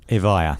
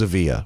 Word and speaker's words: Evija: proud of will you pronounce it for me avaya avaya yeah i thought it was a via okay i'm off you